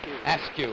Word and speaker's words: Askew: have mr mrs askew from portsmouth virginia thank you very much ask you it's pretty much like the word sq isn't it spelled the same way i noticed what do